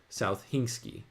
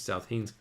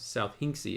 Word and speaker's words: South Hinksey: walked to Carfax through South Hingsky with great enjoyment. I presume that these are street names. South Hinksey. Yeah, I said it wrong the first two times. South Hinksey.